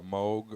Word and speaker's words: Moog: think about getting one of those like uh moog or moog however you prefer to pronounce it uh keyboards this is the game